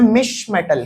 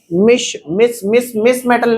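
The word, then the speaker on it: mischmetal: और नेक्स्ट इसके बाद बात करूं, हाँ, एक अलॉय होता है, जिसका नाम है मिश मेटल। क्या नाम है? मिस मेटल नहीं है, मिसेस वाला मिस नहीं है, मिश।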